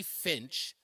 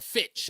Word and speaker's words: Fitch: please do it's by Mark E Finch or Fitch I should say I'm pronouncing his name with an N Fitch Mark E Fitch uh